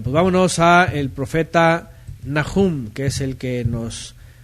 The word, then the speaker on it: Nahum: Y el nombre de Nahum, su pronunciación hebraica es Nahum. Realmente la letra que está aquí es Het, no es He, es Het, y es Nahum, ¿okay?